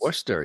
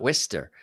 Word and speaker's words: Worcester: Magicians in Worcester Massachusetts Worcester yeah and that's how you say it not Worcester yeah right Worcestershire um